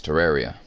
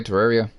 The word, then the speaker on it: Terraria: bad juju ah yes Terraria should we all just play Terraria not terrari Terraria and ter is spelled just one R uh then the Red